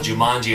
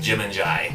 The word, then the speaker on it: Jumanji: I didn't know Jumanji was Jumanji until the movie came out. I thought it was like Jim and Jai.